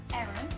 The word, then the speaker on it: Aaron: Which in my world is pronounced exactly the same as the girl name, Aaron.